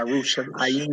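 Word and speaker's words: ירושלים: Yeah, Yerushalayim. Right. Yerushalayim. But the yim at the end of it. Right. Yeah, I got it. Okay. All right. So it's Hamishpaka Zakra Wahi Hauka El Yerushalayim.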